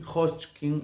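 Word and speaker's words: Hodgkin: de un cáncer linfático, linfoma de Hotchkin, Hotchkin, así se pronuncia, era una enfermedad con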